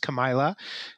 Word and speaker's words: Camila: And I should also correct my wife's name is pronounced Camila, and she does not miss a beat in terms of she gets Camilla most of the time, but she's quick on the correction there.